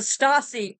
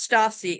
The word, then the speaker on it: Stasi: them motivated the STA the stacei I think it's pronounced Stacey s SII used the exact same